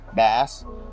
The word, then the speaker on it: bass: Bass rhymes with mass, a species of fish.